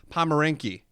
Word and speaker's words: Pomerenke: Craft Brews and Casual Conversations, joined with me, dancer, actress, performer, overall entertainer, Adele Pomerenke.